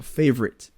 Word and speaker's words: favorite: thing about another word like favorite it's just two syllables again faite or ch clate